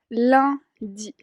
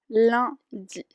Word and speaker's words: lundi: Entonces, se dice lundi, lundi.